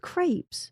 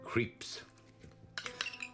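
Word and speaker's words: crêpes: be ridiculous creps are the best they're called Crepes I've been saying it wrong my whole life never your mother made them you called them creeps drove her bad do do we get to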